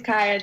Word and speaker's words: Kaiya: Our next volunteer who is also here is Kaiya. Sorry, Kayla, Kaiya. - Is it Kaiya or is it Kaiya? - It's Kaiya, she got it right the first time.